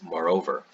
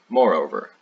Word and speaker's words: moreover: thing and another one you can use is moreover or moreover the pronunciation being the difference between british english and american english but when you're using